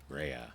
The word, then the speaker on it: Reya: you told me rehea Rea yeah cuz my dad was like not like Freya but it's it's literally spelled the same way just minus the F mhm right yeah I've